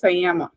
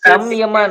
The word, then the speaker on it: samyama: You are like that is not samaya or how you pronounce that is just sayama. Okay. Who can rectify the Karthik? Karthik. Samyama, madam. SAMYAMA. Yes. That written form is like this, but pronunciation is different.